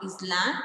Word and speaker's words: island: It is not island, it is island because S is silent there.